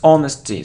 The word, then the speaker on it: honesty: not emphasis emphasis emphasis it isn't honesty its honesty so we don't pronounce age here honesty it isn't a